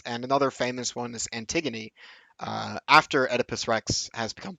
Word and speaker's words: Antigone: Anyway, it's Antigone, but it's spelled Antigone.